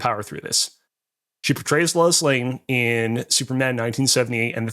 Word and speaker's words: Lois Lane: I haven't gone my entire life thinking it's Lewis Lane. I know for a fact that it's Lois Lane, but I'm just going to power through this.